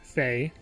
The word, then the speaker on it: Fei: her given name would be faye and her family name would be lin so if she if she were to anglicize her name it would be fey lin i suppose maybe she would even spell it f-a-y-e like like like people do in america and europe instead of f-e-i um and you can